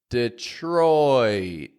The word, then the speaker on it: Detroit: gate you may notice Detroit has an oi sound repeat it after me there Detroit not just Detroit but